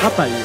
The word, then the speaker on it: Rapaille: Oh, Rapaillès, je ne sais pas comment on prononce. Rapaille, voilà.